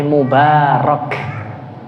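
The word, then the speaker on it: مبارك: Jangan mabruk tapi mubarok ya akhi. Mubarok makanya jumah mubarokah gitu ya atau berkah bahasa Indonesia gitu ya. Jelas ya. Jangan mabruk. Mubarok ini penting sekali loh ya. Orang Arab banyak yang salah juga.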